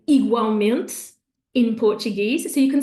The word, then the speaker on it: igualmente: So it's almost like a whole other syllable that they put on there. So they would say igualmente in Portuguese.